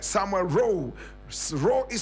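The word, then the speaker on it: Rowe: Gold Coast was called Samuel role said Samuel row row is spelled r-o-w-e my brother my sister unfortunately the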